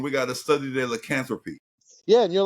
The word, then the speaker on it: lycanthropy: And they said lycanthropy. And I was like, ew, that's not how you pronounce the word. The word Yeah. is called lycanthropy.